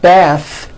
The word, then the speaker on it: bath: The word bath is a noun with an unvoiced TH. Bath.